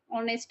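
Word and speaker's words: honest: जे दिलेल आहे ते ऑनेस्ट आहे म्हणजेच इथे जो आहे एच जो आहे आणि त्याचा प्रोनान्स आपण ऑनेस्ट म्हणून करतो म्हणजेच ओ म्हणून करतो ओ म्हणून आपण त्याचा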